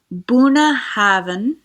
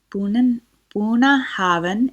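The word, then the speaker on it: Bunnahabhain: I'm going to click over and read the pronunciation of this whiskey. It is called Bunnahbhain. Bunnahbhain.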